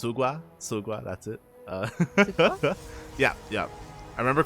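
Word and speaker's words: Xigua: And I should say it's actually pronounced Sugua. That's it. Yeah. I remember calling him Jigua, and she's like, "That's not how you say it."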